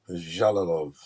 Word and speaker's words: Jalolov: Eastern European um dialect it's j so it's pronounced jalilov jalolov Yep this guy's gonna be a monster five